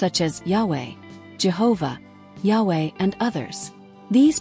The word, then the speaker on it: Yahweh: In Hebrew, the verb in the first person is Ehyeh, and in the third person Yahweh or something similar, suggesting that the pronunciation of the divine name was linked to this verb.